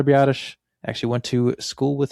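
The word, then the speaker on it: Biadasz: Did not even try to pronounce that last name. Yeah, most people cannot figure that one out, but if you're a Badgers fan, you listen to hearing his name plenty of times before he got drafted. But yeah, it's Tyler Bottish.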